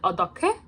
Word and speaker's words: 어떻게: If a regular consonant becomes before or after hyut, it becomes pronounced as a strong consonant. Also natural. Okay, like 어떻게? 어떻게 is written as this, but it sounds more like this. Okay, because the hyut sound is making the giok sound more like k instead of g.